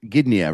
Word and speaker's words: Gdynia: You're in, so you're northern Poland, Gdynia, right? That's right. That's how I pronounce it.